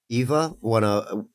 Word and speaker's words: Ewa: Eva, Echo knows who I'm talking about. She's a chatter. She's around. You mean Ewa? Ewa. It's Eva. Yeah, but it's pronounced Eva.